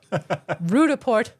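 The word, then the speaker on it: Roodepoort: I actually checked how to say Rudaport expecting it to be complicated. It's just like it's spelled. Rudaport, South Africa.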